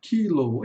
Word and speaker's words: kilo: Mas em português nós falamos kilo, termina no. Só que em inglês aqui tem um longo, então vai falar kilo. Kilow.